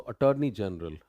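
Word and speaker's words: attorney general: Part पे जोर आएगा, और टार नहीं है, ये टर है। तो अटॉर्नी जनरल, अटॉर्नी जनरल, अटॉर्नी जनरल।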